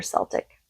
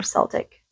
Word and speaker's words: Celtic: just do a regular Celtic yeah I'll just do a regular Celtic I think that's Celtic Celtic I've heard it pronounced both ways so just shuffling really